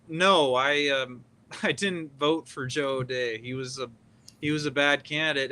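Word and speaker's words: O'Dea: Colorado State Republican Party was represented well by Odia as the Senate candidate in the 2022 midterms in terms of values? Yeah, his name is pronounced O'Day, by the way.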